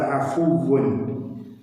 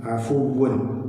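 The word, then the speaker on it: عَفُوٌّ: അവിടെ അഫുവ്വുൻ ആ എന്ന അക്ഷരത്തിന് ഫതഹും രണ്ടാമത്തെ ഫാഇന് വമ്മയാണ് വരുന്നത്. അഫുവ്വുൻ വമ്മ ഉച്ചരിക്കണമെങ്കിൽ ശരിക്കും നമ്മുടെ രണ്ട് ചുണ്ടുകൾ ഇങ്ങനെ കൂർത്ത് വരണം. അഊദു എന്ന് പറയുന്നത് പോലെ അഫുവ്വുൻ, ആ ചുണ്ട് കൂർത്ത് വന്നിട്ടില്ലെങ്കിൽ ആ വമ്മ പൂർണ്ണമാകുന്നില്ല. അവിടെ ഒരു അർദ്ധ വമ്മോ അല്ലെങ്കിൽ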